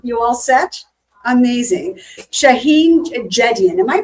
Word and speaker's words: Jedian: Shaheen Jedian. Am I pronouncing your last name?